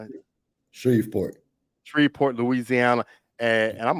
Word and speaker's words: Shreveport: Shreveport.